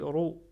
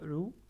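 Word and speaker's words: رُ: On dit Ro et on ne dit pas Rou.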